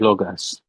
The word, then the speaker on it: Lucas: your name sorry uh people with different accents say differently I pronounce it logos okay so my I